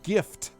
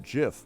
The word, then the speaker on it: GIF: of nonsense like that if you've got the word gift it's right there in front of you take off the t gif now let's call it jiff why would you do